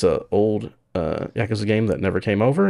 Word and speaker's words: Yakuza: It is Yakuza.